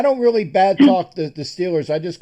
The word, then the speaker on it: Steelers: They call them the Stillers. You know, the way that the way they pronounce it up there.